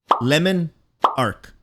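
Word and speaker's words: Le Monarque: can be your best friend we have the lemonark wait lemon arc trust me that's the way it's pronounced this is an exotic energy void combat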